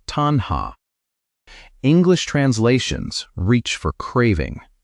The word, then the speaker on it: tanhā: The Pali word is tanha, pronounced tanha.